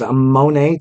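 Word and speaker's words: Moné: Which, we all kind of want to talk to, exactly the reason why she's pronounced, because it says Monet Talks, kind of like Money Talks.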